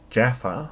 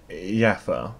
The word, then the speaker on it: Jaffa: accent the thing is in Sweden we pronounced we pronounced J and occasionally G as why which means that for example when I say the word Jaffa I always feel inclined to say yaffa which has made people